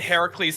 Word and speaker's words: Heracles: I almost said Heracles and I'm like, "No, I have to say it incorrectly." No, that's No, that's correct. That is correct.